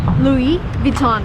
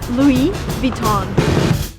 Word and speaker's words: Louis Vuitton: of the shop is Louis Vuitton again everything is French come on so everything needs to be pronounced in the French way if you want to